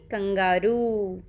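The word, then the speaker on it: kangaroo: ना कौन है यह कंगारू ठीक है इसको हिंदी में बोलते हैं कंगारू और इंग्लिश में हम इसको कैसे प्रोनाउंस करते हैं कंगरू ओके तो यह जानवर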